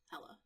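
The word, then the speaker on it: Helle: Hel, Hela, which is spelled that way, but I've traditionally seen it spelled as H-E-L-L-E. And it's pronounced Hela.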